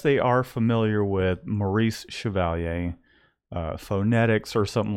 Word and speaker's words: Chevalier: Chevalier because nobody out there can even pronounce my name Chevalier see HEV a li ER if you write